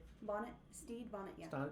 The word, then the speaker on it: Bonnet: Bonnet.